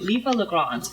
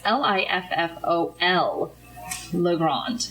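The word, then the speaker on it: Liffol-le-Grand: are coming to, and they also spell it differently in the meat of the letter here, but it says are coming to Liffey-le-Grand, which is actually, for those, again, listening at home, it's Liffol. Le Grand.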